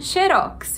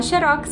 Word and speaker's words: Xerox: E você vai ficar xerox você vai virar uma palavra oxítona na última sílaba é a mais forte então tanto faz quanto a pronúncia os dois jeitos são corretos mas se você for